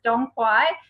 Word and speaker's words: Dong Quai: is really great, I'm glad you did, is Dong Quai. So I know it's pronounced, it looks like Tanque, but it's Dong Quai.